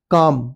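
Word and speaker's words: calm: काम इसमें L silent है। इसको इसको काम बोलते हैं।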